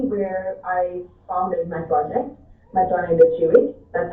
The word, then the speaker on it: Matone de Chiwit: So that's actually where I founded my project, Matone de Chiwit. That's how you pronounce it.